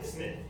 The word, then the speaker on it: Psmith: Ah, Smith. The P is silent, as in silent.